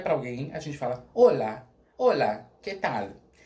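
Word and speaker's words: hola: Em português é olá. A gente tem a sílaba mais forte no lá. Em espanhol é no o. Então é olá.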